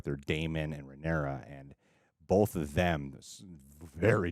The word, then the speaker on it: Rhaenyra: I always get confused on how to pronounce it. Rhaenyra, right?